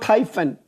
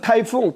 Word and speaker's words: Typhon: The one called Typhon is not Typhoon. Typhoon is Typhoon . That name is Typhon.